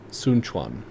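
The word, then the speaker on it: Sun Quan: And then Sun Chuan. Sun Chuan.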